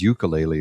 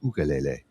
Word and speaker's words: ukulele: Well, I always pronounced it as ukulele, and somebody said, no, it's pronounced ukulele. Ukulele. I'm like, well, it would make sense because it's a Hawaiian instrument and it's a Hawaiian word, ukulele. And there's no Y in it, so uke. No, it's ukulele. That's the pronunciation.